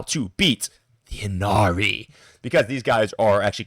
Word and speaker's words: Ynnari: The current terror of the meta is describable only in one unpronouncable word, the Inari. Well, I guess I guess I can pronounce it, but it's spelled stupidly.